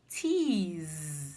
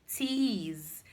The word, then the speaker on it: tease: Another example is tease. Stop teasing me. Tease ends as letters se, but when you pronounce, you have the z sound. Z.